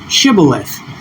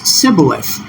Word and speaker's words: shibboleth: was being tested on how they pronounced a word which is translated to English by modern Hebrew as shibboleth. And you could see here there was a speech that was different, which was sibboleth.